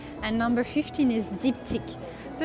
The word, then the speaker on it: Diptyque: So how you pronounce it is Givenchy, and this one is Diptyque.